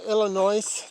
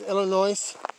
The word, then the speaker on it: Illinois: oh here's something you know the state of Illinois that everybody says Illinois it's Illinois the is is silent and for people that says Oregon that's